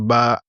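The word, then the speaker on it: باء: Vous avez constaté ici sur le A, on a mis un chapeau. C'est pour dire qu'il faut tirer légèrement. On ne dit pas la lettre Ba, on dit la lettre Ba.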